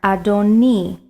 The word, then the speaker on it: adoni: heard is the word adoni you'll see this word twice in the text once in the second line and once in the third line now notice i did not pronounce it adonai adonai is the word